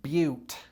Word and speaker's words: butte: I point out that this word is pronounced beaut.